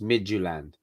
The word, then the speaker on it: Midtjylland: and cynthia said it it's pronounced midgeland why do you say